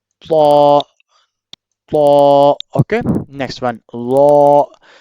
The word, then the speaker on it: ظ: Law. The same place where they are pronounced law and dal, but dal in a thick or in a thin sound and law in a thick sound.